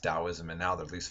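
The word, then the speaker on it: Taoism: come is called dosm the old system from Chinese to English used to put a t for a D sound so sometimes you'll see it read wrote looking like taism but it was always pronounced dosm and now they at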